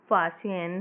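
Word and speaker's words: Faxian: फ़हेन के नाम से इनको जाना जाता है और जैसे इनको अगर स्पेलेल करते हैं तो फैक्सियन है लेकिन इनको प्रोनाउंस करते हैं तो फासियन है।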